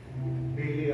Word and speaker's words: BeLe: So, BeLe, I love the way your name is spelled.